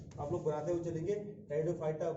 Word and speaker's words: Pteridophyta: Spelling जरा याद, spelling क्या प्रोनाउंसिएशन सीखो, इसमें पी साइलेंट होता है ना जब हम लोग पढ़ते हैं, तो टेरिडोफाइटा, PTERIDOPHYTA, टेरिडोफाइटा जो है इसको बोलेंगे।